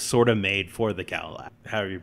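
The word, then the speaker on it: Kallax: it actually is sort of made for the Kalax, however you pronounce it. Kalax.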